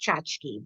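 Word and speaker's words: tchotchke: a story called No chachkas for Tanta Trudy and my mother always pronounced it chachka I've heard it pronounced chachki but my mother always pronounced it chachka the plural being chachar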